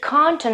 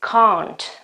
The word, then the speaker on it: can't: to not can't okay so obviously you can find the pronunciation can't a lot in movies for example it is quite typical of American English okay but if you have to to talk British English or you have to talk to you this verb during an exam or whatever so it's battery if you use the original pronunciation which is count okay so can not